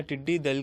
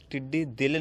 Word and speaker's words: ٹڈی دل: کرتا چلا جاؤں کہ یہ لفظ ٹڈی دل نہیں بلکہ اس کا اصل تلفظ ٹڈی دل ہے۔ دل لشکر کو